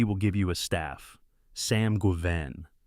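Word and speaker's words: Sam Guevenne: Sam Guven. It is worth saying the name out loud. Sam Guvenven. The name sounds to a certain ear like a pronunciation of Sanguin, the drich prince whose sphere encompasses debauchery, hedonism, and drunken realry.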